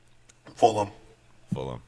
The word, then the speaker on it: Fulham: Fulham.